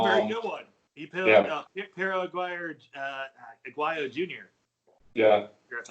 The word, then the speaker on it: Pero Aguayo: He killed Pero Aguayo Jr. Yeah. That's how you pronounce it.